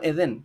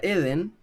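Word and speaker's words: עֵדֶן: La palabra Eden en hebreo, que no sé, en hebreo se dice Eden y no Edén, es como al revés la acentuación, simboliza el paraíso. Ahora, hay algo interesante porque la palabra Eden en hebreo se podría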